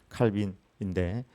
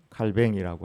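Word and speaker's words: Calvin: 칼빈이라고 영어로는 칼빈인데 프랑스 발음으로는 칼뱅이라고 하는데 우리 장로교를 이렇게 창시한 분입니다.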